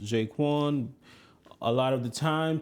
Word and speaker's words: J'Qwan: As you can see, the name of the channel is pronounced Jaquan.